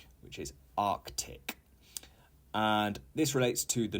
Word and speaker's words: Arctic: not correct to say Arctic you need to pronounce the C the C which is Arctic and this relates to